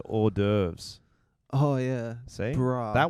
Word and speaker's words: hors d'oeuvres: Horse d'oeuvres is actually pronounced hors d'oeuvres.